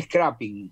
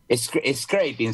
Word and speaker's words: scraping: Bueno, lo que hicimos fue hacer scrapping, que es scraping se pronuncia, ¿no?